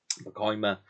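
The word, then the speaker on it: Pacoima: I've only just recently learned to say that correctly and pronounce it because I've been hearing it on the documentaries and so forth. POMA Junior High, which is simply titled Richie Valens in Concert at POMA Junior High.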